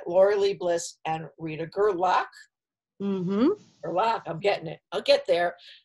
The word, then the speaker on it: Gerlach: it Rita glic gerlock gerlock okay it's just the way get spelled okay gerlock I know it's been it's been pronounced a lot of different ways believe me like garlic it's yeah it's girl okay all right great